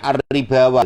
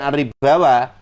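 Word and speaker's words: الربا: Tulisannya ar-ribawa gitu. Tapi bacanya bukan ar-ribawa, ar-riba, ar-riba, ar-ri baca tarqiq, ra-nya karena dibaca kasrah.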